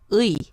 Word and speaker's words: 의: And the second one is U and I. U plus I. So 의. Right.